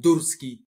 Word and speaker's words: Durski: So the proper way to say it, the first name and the last name, is, that's the name, and Durski, that's the surname. So Durski. That's D and U for unicorn.